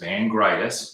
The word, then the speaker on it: Vangritis: is and my last name which is vangreitis you got to make sure you spell it right so k v-a-n-g-r-i-t-i-s at bottom line